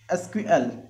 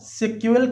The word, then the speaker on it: SQL: यहाँ दिया है एसक्यूएल प्रोनाउंस्ड एज एसक्यूएल और स्केल। इसको एसक्यूएल के नाम से प्रोनाउंस किया जाता है या कहा जाता है, या सेक्यूएल के नाम से इसको पुकारा जाता है।